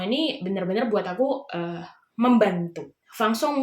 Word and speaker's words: Vincent: Fang Song mungkin kalau di Indonesia dibacanya Vincent gitu ya, soalnya ya itulah bahasa salah satu-satunya ya pelafalan nama aja di Indonesia dan di Prancis beda. Jadi manfaatkan kecanggihan teknologi yang